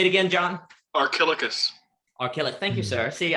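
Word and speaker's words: Archilochus: you know this crap say it again john archilicus okay thank you sir see i couldn't even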